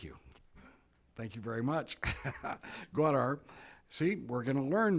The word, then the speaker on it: Gwadar: The province's major port, let me pronounce it, Gwadar, thank you. Thank you very much. Gwadar.